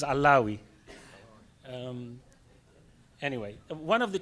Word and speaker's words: Allawi: attempt to correct you even even though you got my name wrong well my name is allawi um anyway one of